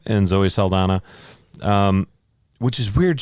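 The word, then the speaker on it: Saldaña: She has like the little symbol over the end, which is it Saldana? Danya? Is it Saldana? Have we been pronouncing it wrong the whole time? Gotta get the Enya in there.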